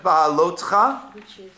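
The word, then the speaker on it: בהעלותך: Okay, so let's go to Parshat Ba'alotcha, which is on page 774. And this is a very, very strange and unique parasha. What does it mean? How do you pronounce it? Be'ha'alotcha is when you will kindle, or actually literally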